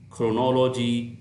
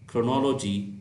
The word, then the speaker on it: chronology: Next, CH is pronounced as K, as in chemical, chemistry, choreography, chronology, chronic.